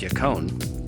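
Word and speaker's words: yacón: help to increase a healthy intestinal tract yakone pronounced yakone is said to increase metabolism as well as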